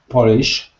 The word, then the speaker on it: Polish: But the stress is on the first syllable. Polish. Right. Polish, not Polish. Polish. Because if you say Polish, people will think you're trying to say polish, like I polished my shoes.